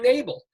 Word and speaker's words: Nabel: It rhymes with table, fable, or even cable.